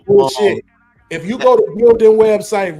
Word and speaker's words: Gildan: How the fuck you don't know V-necks is and for the record, it's Gildan. No, it's Gildan. It's They're exactly Gildan. the same price. We don't pronounce the A.